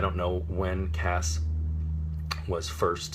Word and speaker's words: Cass: pronunciation they expelled at C a SS which is hard C followed by the vowel and consonant cluster that makes the sound ass so Cass as opposed